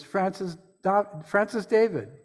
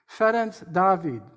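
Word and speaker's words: Ferenc Dávid: We American Unitarians know that name as Francis David. I will refer to him by using the Hungarian pronunciation, Ferenc David.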